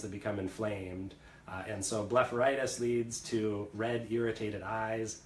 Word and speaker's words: blepharitis: I'm probably going to say this wrong, but what is Blepharitis? Oh, you did say it wrong. So Blepharitis is something that is commonly seen in patients